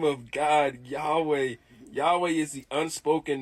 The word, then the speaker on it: Yahweh: Yahweh. Yahweh is the unspoken name of God. Inhale Yah. Exhale way.